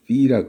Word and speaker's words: 파이: 파이. F 발음해서 파이라 그래요. 그리스 사람들은 피라 그러고 왜 그리스 사람이 어떻게 읽든 뭔 상관이냐?